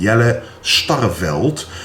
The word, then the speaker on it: Jelle Starreveld: And before I will show you the video that I did, the workout that I did with Jelle Starreveld, which is his name, how you pronounce it in Dutch, I will tell you something about the Bodypower because I will be going there.